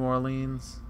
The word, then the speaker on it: Orleans: Have you memorized every street of your hometown of New Orleans?